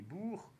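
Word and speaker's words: Boers: ce qu'on appelait les bourgs kit libraires mais ça se prononce bourg c'est à dire les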